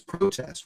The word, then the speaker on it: protest: The producer and the owner co-owner of lab uh had me pronounce protest as a verb as protest which is a noun.